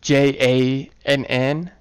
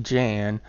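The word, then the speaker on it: Jann: Like, Ika Thompson for scouts, Nadine for engineers, Jan, which is J-A-N-N. It could, depending on how you read it, it could be pronounced Jan, but I prefer Jan.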